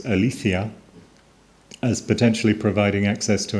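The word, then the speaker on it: ἀλήθεια: Martin Haidiger thinking about the question of truth typically appeals to the Greek term that my Greek friends pronounce althia as potentially providing access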